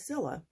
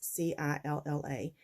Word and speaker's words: Cilla: I am probably going to stop saying my name is Cilla because I did it in the beginning to help people know how to pronounce C-I-L-L-A. My name is Priscilla, and C-I-L-L-A is simply pronounced Cilla.